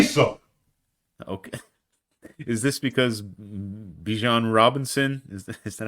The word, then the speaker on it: Bijan Robinson: Is this because Bijan Robinson is that how you pronounce his name?